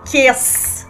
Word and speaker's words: Chies: É a Kies. É isso? Exato! Empresária...